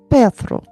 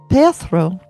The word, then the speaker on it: Perthro: Next up, Perthro.